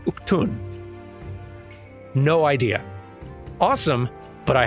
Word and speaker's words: Udgan: But that word right there, Udgan, it is pronounced, at least in this game, something closer to, like, Uktun.